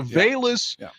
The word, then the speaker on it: Velus: we call him does it starts with the v but maybe it's pronounced with a b is that right oh velus it is bayless i thought i heard